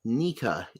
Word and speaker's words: Nika: actually special is actually a sound and it's pronounced nica in japanese like sun god nika and uh then that's the end of the